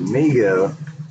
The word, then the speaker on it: Mego: Mago, pronounced Mego, Corporation was started by his father David Abrams in 1954, named by his younger brother Howard, who would say Mego too.